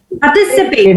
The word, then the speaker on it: participate: Participate. It's participate. Ma'am, it's Yes. participate. S is on t. Participate. All are the same. Participate. That's the syllabification, and the stress is on t. Second. Yes. Second syllable.